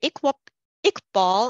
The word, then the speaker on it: Iqbal: And with that, Mary Iqbal, I'm sorry, am I pronouncing your name correctly?